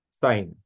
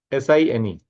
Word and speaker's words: sine: committing a sin so pronounce it as sign only right second one is